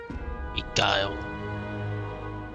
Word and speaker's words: beguile: I can't imagine how they could possibly beguile human hearts. Oh, that's how you pronounce it. Begile.